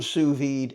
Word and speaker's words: sous vide: you sear it off I use the term sued a lot it's spelled s o u s v d e